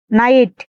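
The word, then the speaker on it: knight: এই ভিডিওতে শব্দের শুরুতে কে এন থাকলে তার উচ্চারণ হবে দন্তান্য। এই ক্ষেত্রে কে অনুচ্চারিত থাকে। নলেজ জ্ঞান নাইট গুড়া নি হাঁটু ডাব এর পরে এইচ আর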